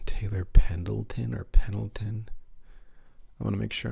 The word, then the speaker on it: Pendleton: Taylor Pendleton or Pendleton? I want to make sure I'm pronouncing it correctly.